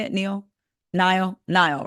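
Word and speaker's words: Niall: actually in town for his former band mate Neil horen is that how you say it Neil Nile Nile right um for his concert so that's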